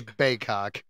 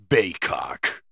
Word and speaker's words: Baykok: No, we are mature adults, and it is Baykok. Let me try this one more time then. Baykok. I feel like Beavis and Butthead in that episode. That is the pronunciation according to the internet. So if I'm wrong, blame the internet.